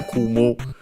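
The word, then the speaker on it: 汲む: Unaccented, by the way, kumu. And yeah, by the way, you distinguish it from another kumu, which is accented, which is the one that means, for example, to cross legs or arms.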